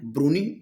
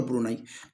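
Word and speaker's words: Brunei: दोस्तों जिसे इसकी दोस्तों दो प्रोनाउंस है ब्रूनी और ब्रुनेई तो दोस्तों ब्रूनी या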